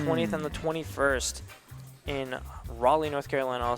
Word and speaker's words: Raleigh: Yeah, gonna be happening the 20th and the 21st in Raleigh, North Carolina.